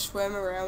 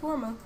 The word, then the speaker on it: shawarma: shawarma there we go i used to think the name was schwemere or something but no it's warmer that thing is so